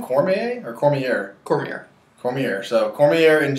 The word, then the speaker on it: Cormier: Cormier or Cormier?